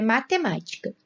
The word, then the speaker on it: matemática: Próxima palavra é matemática. Matemática tem como sílaba tônica a antepenúltima sílaba.